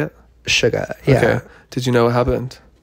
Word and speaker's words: Suga: Suga, yeah.